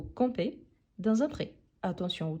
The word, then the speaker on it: campez: taureau donc vous compe ici la prononciation c'est la même sauf que le verbe à l'infinitif finit en er r tandis que le verbe conjugué finit en e Z à cause du sujet donc vous campez dans un prè attention